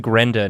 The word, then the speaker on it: Grendan: It's actually Grenda now. Oh, okay. Yeah, I apologize. So Yeah. it's Grenda. Major changes are afoot. Yeah. It's still spelled the same. The N is just silent.